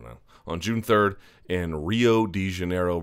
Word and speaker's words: Rio: on June 3rd in Rio De Janeiro Brazil or hiio I believe is how it's properly pronounced but don't hold me